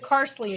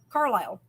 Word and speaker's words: Carlisle: I don't understand because the way it's spelled is like car and I'll like an an island you know so like the Isle of right aisle i-s-l-e so Carl so Carlisle um anyway they always